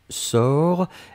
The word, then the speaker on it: sors: première personne du présent c'est je sors s o r s on ne prononce pas le s p on doit quand même l'écrire futur simple de